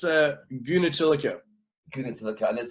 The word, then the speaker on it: Goonetilleke: part of the interview straightaway how do you pronounce that surname of yours it's a guna tilaka get into the con is it Dutch or